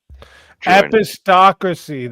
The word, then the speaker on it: epistocracy: That's how you say it. I said epistocracy. That's why I was it up. But I was right on what I was trying to say. Where you try to find patterns and that doesn't actually like I knew what I was trying to say. I knew the word. I just wasn't saying it right.